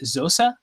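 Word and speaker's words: Xhosa: do i pronounce it is it zosa like closer tradition is that like a cl clicking sound yeah it's a clicking language it's nelson mandela's language so you click also yeah or you could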